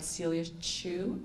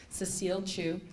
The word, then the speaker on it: Cecile Chu: Next, I'd like to invite Celia Chu up. I said it wrong. Cecile Chu.